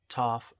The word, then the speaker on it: Toff: Toff absolutely rhymes with tough you don't have to